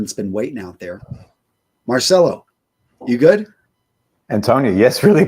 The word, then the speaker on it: Marcelo: Now, first up, again, did I pronounce it correctly, Marcelo, or is it Marcello? Marcelo.